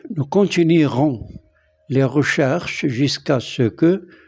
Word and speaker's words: continuerons: C'est un verbe en ien et au futur simple, il garde le E et le E ne se prononce pas. Nous continuerons les recherches jusqu'à ce que nous retrouvions les disparus.